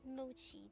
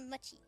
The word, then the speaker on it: mochi: one really good mochi I don't know why I pronounce Emoji no Japanese ever would say it like that it's a Machi Machi one very good mochi